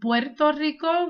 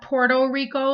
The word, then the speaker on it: Puerto Rico: both words and for anyone out there it's pronounced Puerto Rico which means Rich Port not Puerto Rico like most people say I don't know why